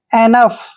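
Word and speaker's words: enough: न पढ़ना है और ओ यू जी एच को फ पढ़ेंगे एनफ एनफ होता है काफी यानी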